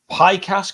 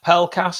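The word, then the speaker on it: Pelkas: top spot greek international demetrios pi cast could be pronounced pell cast has become hull city's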